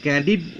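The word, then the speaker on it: Candide: তিনি ক্যান্ডিড বলে, ক্যান্ডিড হয় উচ্চারণটা বা লাস্টে, ক্যান্ডিড বলে ইংরাজি অক্ষর তো এই জন্য বাংলায় চেঞ্জ হয়।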